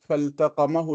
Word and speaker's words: فالتقمه: If you have alif and lam in the verb, then this is not the, and so you have to pronounce the lam.